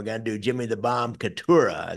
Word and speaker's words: Cataura: Yeah, we're gonna do Jimmy the Bomb Cataura. Is that how you pronounce that, Cam? Cataura? Cataura, yeah.